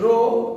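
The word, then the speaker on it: rho: इट is pronounced as रो where H is silent, रो।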